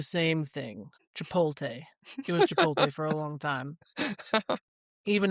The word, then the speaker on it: Chipotle: asked if it's uh if the restaurant is pronounced Chipotle or Chipotle. And I told her I told her that it's Chipotle.